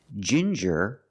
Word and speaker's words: ginger: With ginger, we use the J sound, like juice and jump, j, and the regular N, ginger.